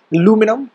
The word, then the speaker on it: aluminum: In the American English, we use the term aluminum with the stress being on the second syllable, and this is because that's how the discoverer of it, Sir H. Davy, in 1812, called it.